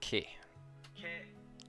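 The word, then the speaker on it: ケ: Das Ke. Ke. You pronounce this as ke, like in the word kept.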